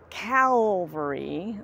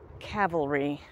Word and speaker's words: cavalry: believe in such things so when people say they were in the 45th calary that's not correct it's Cal Cavalry so there's your English